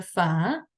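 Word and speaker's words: فاء: that is the letter far f is basically made up of two sounds it's F and then a so when we have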